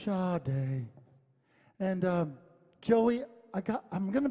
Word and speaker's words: Sade: But it's pronounced Sade.